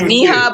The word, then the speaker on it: Miha: So I Googled it and it's Miha, but apparently, we're English speaking, so there are a lot of pronunciations going around.